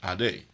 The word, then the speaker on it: Ade: You may say aid when you see A-D-E by itself, but I saw the Greek word Ade. And so everywhere I saw the inference Ade, I did not say aid. I said Ade.